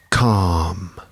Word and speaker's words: calm: Remember the silent L in that word, right?